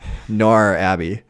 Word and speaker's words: Northanger Abbey: oh yeah you know you don't pronounce anything between the r and the g so it's just norm nor abby um that's true but